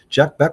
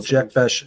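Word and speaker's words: Jack Bech: Jack Beck was brought here for a reason.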